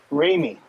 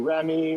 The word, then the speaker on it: Raymie: in here but so help me get the pronunciation of your first name right it's it's for me right raymie yeah okay yeah you know most people call you remy or me because it's